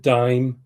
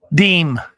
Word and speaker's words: disme: I pronounce it dime. Robert and Brad is DISME, dime or dismay? Deem. Deem. I'm sorry. Deem.